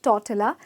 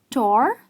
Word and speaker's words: tortilla: is it not tortilla it’s definitely not totilla because the "ll" here is absolutely silent ok and the pronunciation is tawh-tee-uh and it’s not tor-cia its tawh-tee-uh so yes its tortilla